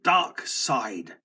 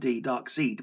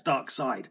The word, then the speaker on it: Darkseid: We get our first look at Dark Side, which I've always pronounced, by the way, since I could read comic books, Dark Seed, because of how it was spelt. I thought that's how it was pronounced, Darkseid, Dark Seed, but